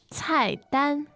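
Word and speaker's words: 菜单: now, the verb for menu is 菜单，菜单。菜单. Great. Fourth tone and first tone.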